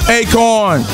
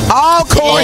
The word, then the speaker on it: Alcorn: I got Steve McNair from Acorn. Alcorn State. It's all good. Close enough. We told you he was country as corn. Mispronounced Alcorn State.